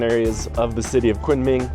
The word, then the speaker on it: Kunming: Guys, I have moved on to the next city and I'm here in Kunming, or I think it's locally pronounced Kunming.